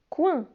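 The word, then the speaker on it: coing: fruit d'abord c'est un coin alors regarder comment ça s'écrit un coin le g et muet donc je ne le prenant ce pas un coin alors dans le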